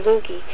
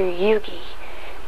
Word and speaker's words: Yoogi: for the second time my name is not dr lugi it's pronounced dr yugi please do not insult